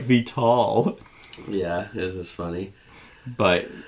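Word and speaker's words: Vital Lacerda: aunt, and it's like Vital. Yeah, this is funny. But actually, he commented on my On Mars discussion. He says, tell Seth, Vital Lasarda is pronounced Vital.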